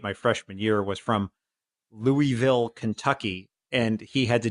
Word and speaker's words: Louisville: how you say it he said it's Louisville like it like you don't you want a little mouth as little as possible Louisville Louisville yeah exactly